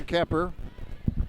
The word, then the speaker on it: Kuepper: Wayne City around their head coach, Don Kepper. Spells his name Kuepper, but it's pronounced E.